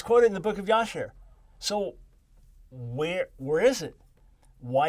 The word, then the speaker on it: Jasher: It's quoted, the book of Jasher or Jasher. It's spelled different ways in Hebrew, Yashar.